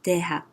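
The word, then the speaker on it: 대학: In Korean, it can be written the Chinese way or the Korean way, and the pronunciation is dehak, dehak, dehak.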